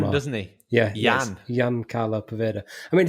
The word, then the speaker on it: Ian: If your name is Ian, you're going to pronounce it Jan. You're not going to say, my name's Ian Carlo Poveda.